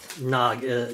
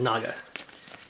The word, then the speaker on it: naga: that's just a snake it's not an agra it's a naga yet naga it's how you pronounce it try and be better